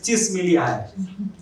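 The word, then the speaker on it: Csikszentmihalyi: The person's name is Chismilihai. After great effort, I have learned how to pronounce it.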